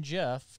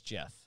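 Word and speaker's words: Geoff: t-shirt for my son jeff two years ago that's how you pronounce that some people spell it that way gioff it's jeff joff jeff jeff remember the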